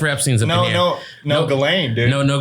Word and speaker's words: Ghislaine: Hey, I didn't know Ghislaine was spelled like that. Like, my goodness. I didn't know there was an H in there. There's 3 G's. The H is silent.